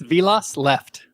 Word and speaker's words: Vilas Left: It's Vilas left.